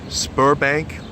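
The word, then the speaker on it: Sberbank: the largest bank but you kind of pronounce it like a p so think of it like a Spur Bank almost like a sperm bank uh and that probably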